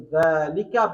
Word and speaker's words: ذلك: Dhalika is pronounced as Dhalika but written without the alif.